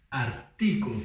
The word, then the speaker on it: artículos: Artículos. Lembra que a gente não tem mais o ti em espanhol, agora é ti.